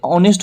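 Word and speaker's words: honest: हैं, एच ओ से ऑनेस्ट होते हैं, लेकिन यहाँ क्या है, एच है, एच से इंग्लिश में एच से शुरुआत है, लेकिन इंग्लिश में जब इसका उच्चारण कर रहे हैं तो औ आ रहा है, तो इसी में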